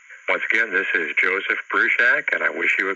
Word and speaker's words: Bruchac: my name is Joseph Bru Shack that's Bru Shack as in boiling up a small building and